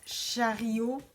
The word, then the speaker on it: chariot: Le chariot, which is pronounced chariot in French of Quebec.